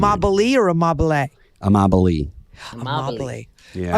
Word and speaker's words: Amabile: But how do you pronounce your last name? It's Italian, and in Italy it means love, but it's amabile.